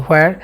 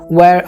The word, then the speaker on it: where: কোথায়, যে ওয়্যার, WHERE, হোয়ার। আমরা উচ্চারণটা এভাবে করে থাকি হোয়ার, আসলে হোয়ার বলতে কোনো শব্দ নেই, আপনাকে অবশ্যই স্মার্টলি উচ্চারণটা করতে হবে। ওয়্যার আর you from, so আই am from Dhaka, ওয়্যার is Dhaka, ঢাকাটা কোথায়।